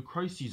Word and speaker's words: crises: Remember, it's the correct way to pronounce the word is crises. All right. Mm-hmm. So let's hear it, Jax. It seems a lot of the crises on SODOR seem to be caused by engines.